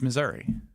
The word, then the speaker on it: Missouri: How do you pronounce Missouri? It's Missouri.